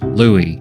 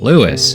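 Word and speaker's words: Luis: L U I S, is actually supposed to be pronounced Louis. Louis. Now, as an American, I'd always read Lewis as Lewis.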